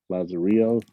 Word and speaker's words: Lazarillo: Lazar, how you pronounce it? Lazarillo.